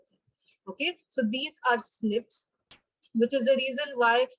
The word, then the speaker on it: SNP: in this case and snips or snps it's pronounced as a snip but it's called snp so single nucleotide polymorphism